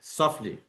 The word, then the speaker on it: softly: And softly. You don't pronounce a T between F and L. It's always softly, not stop softly.